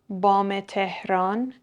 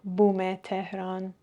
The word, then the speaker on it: بام تهران: بام یا پشت بوم یه منطقه تهران م هست که بهش میگیم بام تهران ولی من نشنیدم بوم تهران معمولاً میگن بام تهران خب نکته بعدی برای